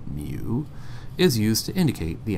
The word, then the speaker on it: mu: to be properly vetted the Greek symbol mu pronounced my oo mu is used to indicate